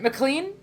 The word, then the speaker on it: McLean: of our M sorry McLean is it I don't know is it pronounced differently than that is it mlan bestie yes it's mlan okay sorry I didn't